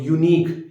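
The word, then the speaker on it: unique: यूनिक, Aneek नहीं बोलते, अनीक नहीं, यू, यू, अ की साउंड नहीं आ रही, तो ए यूनिक, एन अम्ब्रेला।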